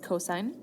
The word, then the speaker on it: cosine: C all the years so that actually is pronounced cosine cosine is found by taking the adjacent leg